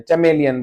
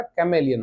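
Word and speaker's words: chameleon: कैमेलियन कुछ लोग का प्रोनाउंसिएशन बहुत खतरनाक होता है। चमेलियन बोलते हैं। चमेलियन नहीं होता। कैमेलियन होता है।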